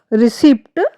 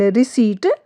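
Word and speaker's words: receipt: रिसीप्ट wrong है। एंड रिसीप्ट right है क्योंकि इसमें पी जो है हमारा है वो साइलेंट है।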